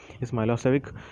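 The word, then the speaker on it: Milošević: A narrow-minded Serb nationalist Milos Vekic, pronounced Milosevic, had won the election, and this government was very hostile to the Kosovo Albanians.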